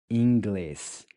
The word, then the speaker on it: inglês: Inglês. Inglês. Inglês. Inglês is English. So here with the IN, we have a nasal ing sound, which sounds like ing, except you don't quite finish pronouncing the G.